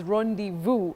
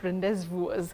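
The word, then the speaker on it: rendezvous: at least you've heard it's Rond Vu and not rendes v um so many surprises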